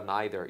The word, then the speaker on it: neither: 찍고 난 다음에 nether 발음은 Neither or Neither either way you say 자 이렇게도 말할 수